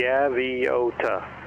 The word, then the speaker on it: Gaviota: It's just FYI, it's Gaviota, just like it's spelled.